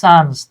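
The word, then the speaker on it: sons: সে তার জমিটারে ভাগ করে দিল ড্যাশ হিস সন্স তার ছেলেদের মধ্যে। হ্যা তার সন্তানদের মধ্যে। হ্যাঁ। আমরা অনেকে সন্স বলি। উচ্চারণ সানস।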